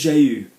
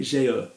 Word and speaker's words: jeu: able to have Etc so this is jeu I can always tell when someone's reading because they say jail okay good next one